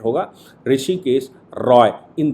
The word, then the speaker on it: ऋषिकेश: justice राय ऋषिकेश रायाबीन को कहते हैं हा साइलेंट होगा ऋषिकेश राय इन दो जजों की बहन का जजमेंट